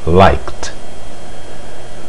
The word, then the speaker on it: liked: O verbo like, ele termina em K, ou seja, termina no som K, mas graficamente você observa que ele termina em E, mas este E não é pronunciado. A pronúncia final é o K, então o passado dele fica liked.